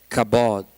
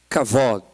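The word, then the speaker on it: כבוד: É a palavra kabod. Kavod. Porque as pessoas, elas pronunciam de maneiras diferentes, mas é kavod.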